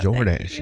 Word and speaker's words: Jordache: Even the name is classy, George, because there's a like a little sound at the end. You don't really see, you only barely say it. Jordache. It like informs the second syllable of the brand.